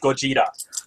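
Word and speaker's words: ゴジラ: It's pronounced Gojira. Gojira. If you're gonna go all Japanese, pronounce it right.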